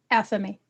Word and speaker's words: athame: With her double-edged dagger, and how do you pronounce this? Athame.